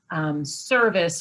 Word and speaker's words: CERVIS: in particular, but Volgistics, Service, which is spelled CERVIS, Better Impact.